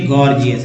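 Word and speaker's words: gorgeous: जैसे देखिए गॉर्जियस, इसका मतलब है कि जी को ग और जी को ज दोनों उच्चारण होता है।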